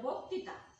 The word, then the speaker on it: বক্তৃতা: আছে একটা বক্তৃতা বক্তৃতা এখানে দেখো শব্দের আদি কি আছে স্বরয় আছে এবং ঋকার যুক্ত ব্যঞ্জন বর্ণ আছে তার জন্য তার উচ্চারণ কি হয়ে যাবে ওকারের মতো হয়ে যাবে যেমন বক্তৃতা আমাদের কি হয়ে গেল উচ্চারণটা বক্তৃতা বুঝতে পারছো শিক্ষার্থী বৃন্দ দেখো